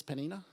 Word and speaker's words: Peninnah: Do you reckon it's Peninnah? Good. I got a yes from the back row. Peninnah had children, but Hannah had none.